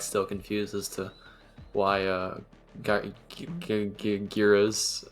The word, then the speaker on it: Gyros: confuses to why uh giras or how do I pronounce that although Euros Euros like like like a European Euro uh Euro yeah okay Euros yes Euros either ours